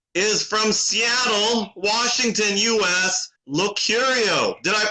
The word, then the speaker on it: Locurio: in the world is from Seattle, Washington, U.S., Locurio. Did I pronounce that correctly? Locurio?